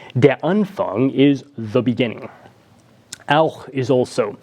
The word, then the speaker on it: auch: Now, CH would be pronounced in English as something like ch. You talk about Chinese food as being something you like. Well, in German, the CH sound, especially if it's occurring at the end of the word like this, is pronounced more like auch.